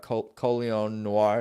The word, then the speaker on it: Colion Noir: So that's interesting to hear you talk about Colion Noir.